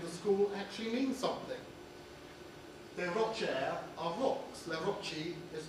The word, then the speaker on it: Le Rocher: Only for some strange reason, people don't pronounce it in the proper Jèrriais way. They call it Le Rocher. It's Le Rocher.